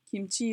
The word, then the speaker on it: 김치: 김치, 김치, kimchi is 2 syllables.